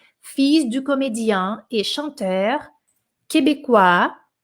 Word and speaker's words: Fils: Filho, pronuncia o S, tá? Fils du comédien et chanteur québécois d'origine égyptienne.